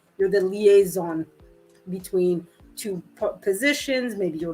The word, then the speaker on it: liaison: it in english because that's my my tendency of pronouncing it the french way uh a liaison right l i a